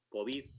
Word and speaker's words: COVID: en D y las palabras que terminan en D tienden a ser agudas, salvo que se les ponga un acento. Y aquí no vamos a acentuar unas siglas, no vamos a hacer COVID con acento en la O, luego sin acento en la O, sin tilde en la O, deberíamos leer COVID, la COVID.